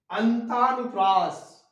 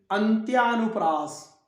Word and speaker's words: अंत्यानुप्रास: अगला शब्द आता है अंतानुप्रास, अंतानुप्रास नहीं, अंत्यानुप्रास, अंत्यानुप्रास। यहां भी अ, आधा न, आधा त, या, क्ष, री, अंत्याक्षरी। इसी तरह अ, आधा न, आधा त, या, प्रास, अंत्यानुप्रास।